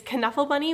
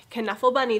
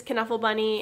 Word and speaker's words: Knuffle Bunny: started the first book is kanuffal bunny which it actually is pronounced caneful bunny this is written by